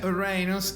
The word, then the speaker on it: Uranus: Si bien al planeta Urano, que en inglés, el chiste es en inglés, en inglés se llama Uranus, se pronuncia Uranus.